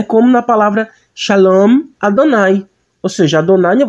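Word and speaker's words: שְׁלוֹם: Não pronunciamos como Shá, mas como Xé. Você sabe que o Shiva, né, tem um som de um pequeno E. Então pronunciaríamos como Shalom.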